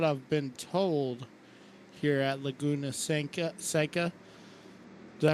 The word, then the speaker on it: Laguna Seca: normal, is what I've been told here at Laguna Seca. Did I pronounce that right? Yeah, Laguna Seca.